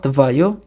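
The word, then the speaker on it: твоё: Ada tvoi, feminin tvaya, netral tvayo, jamak tvoi.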